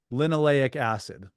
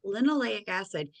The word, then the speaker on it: linoleic acid: lino, how do you pronounce it? Linoleic acid. Linoleic acid.